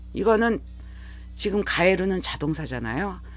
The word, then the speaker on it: 帰る: 거 의미로 보시는 것이 맞습니다 같은 한자인데 다른 발음 이거는 지금 가에르는 자동사잖아요 한 쌍으로 기억하실 가에스 타동사입니다 JLPT n2급